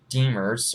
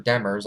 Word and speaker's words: Demers: the Panthers for defenseman Jason Demers or DeMars I believe that's how you pronounce his name but overall um coyotes